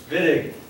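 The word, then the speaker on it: Wittig: what reaction VI reaction spell with the w pronounce with a V vid German George vidd won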